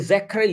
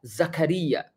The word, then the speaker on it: Zakaria: memaksa orang untuk ya lu enggak boleh zakar Zakri no no it's wrong not zakar but Zakaria enggak bisa gitu juga